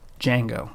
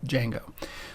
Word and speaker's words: Django: go to django now django is pronounced with just the j there's no d you can just think of it as being no d it's pronounced django no not django but django so we're going to